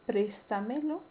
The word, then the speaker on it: préstamelo: Cuando la mayor fuerza de voz recae en la sílaba tras antepenúltima. Tenemos el caso de préstamelo, tómatelo.